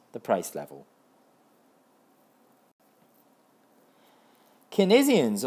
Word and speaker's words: Keynesian: not the price level kesian on the other hand or keynesians or Kian God I've seen so many economics videos and different people pronounce it differently so I'll just say kesian because you know they follow John manod kin